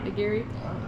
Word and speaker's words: nigiri: We got David making some nigiri with siro? Nigiri, right? That's how you say it? Yeah. Nigiri.